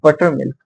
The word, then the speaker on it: buttermilk: Like first the stressed, then the unstressed, and then again another unstressed. Okay, like da, da, da. An example, we can see buttermilk. Buttermilk.